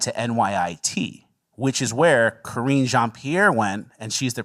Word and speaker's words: Karine: But I always say it like Karini from the 90 Day Fiancé guy. Karine.